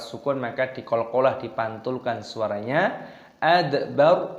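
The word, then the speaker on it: أدبر: Adbar, roknya dimatikan dibaca sukun adbar, bukan adbaro. Kalla wal qamar wallaili id adbar.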